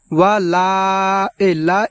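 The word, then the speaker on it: وَلَا: প্রিয় দর্শক, এখানে আমরা ওয়ালা এই জায়গা আমরা 3 আলিফ টেনে পড়ব এইভাবে।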